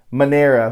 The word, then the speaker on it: Manera: And then Erica D, it's her friend Manera, which is Panera, spelled with a P.